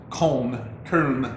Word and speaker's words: Köln: The way Germans pronounce the town of Cologne is Köln, actually, K-O-umlaut-L-N.